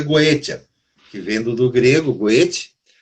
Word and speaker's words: Goetia: Goétia ou Goécia? Goetia. Com T. Goétia? É que aportuguesaram para Goécia. Isso. Mas é Goetia. É com T.